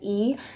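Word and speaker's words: ㅣ: So the next one is, we would pronounce it as E. However, it looks more like the English I.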